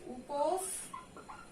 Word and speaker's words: উপস্থিত: যেহেতু এটার উচ্চারণে একটা এস বা ছয়ের ব্যাপার আছে, উপস আমরা একটা ছয়ের মতো করে উচ্চারণ করি, তাই এখানে এই সই থাকবে, উপস্থিত।